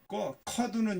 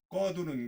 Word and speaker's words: 꺼두는: 커두는 게 아니고 꺼두는 게 좋다.